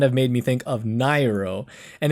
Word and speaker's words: Nairo: And when one of my friends saw Nairo's name in, I guess, the Smash Bros profile, he pronounced it wrong at first. He was like Nario, and we were like, bro, that's not Nario, that's Nairo. So that kind of reminded me of Nairo there.